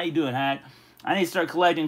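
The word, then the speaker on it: Haq: Last time you came on, I said H-A-Q, but I know on Spontic, you said you call it Hack. Man, he's got a great live stream. How you doing, Hack?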